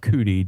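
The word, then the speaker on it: Judi: they called on Mount Judy um or in in some cases is pronounced Mount cudy depending on what language you're speaking they can't pronounce the J so they pronounce it with a c sometimes but um this is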